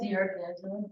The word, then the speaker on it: D'Angelo: Am I pronouncing that right? D'Angelo. Okay, we are.